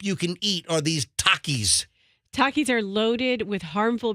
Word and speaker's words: Takis: Show now am I is it Takis Taki how do you pronounce the snack so it's Takis it is Takis all right now now